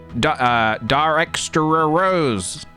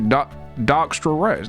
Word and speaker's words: Darkstra Rose: Darextra Rose. Oh god, how have I mispronounced your name so badly? Darkster Rose. Alright, let's try that one more time. Like Darkstra Rose.